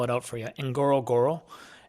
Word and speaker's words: Ngorongoro: Enoro, it's NG O R O N G O R O. And it's basically just repeating itself twice.